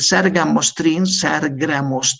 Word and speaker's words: sargramostin: El sargramostin, así se pronuncia, es un factor estimulante de colonias de los granulocitos, que aumenta a varios grupos de ellos.